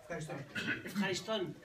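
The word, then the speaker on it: ευχαριστώ: Efjaristón.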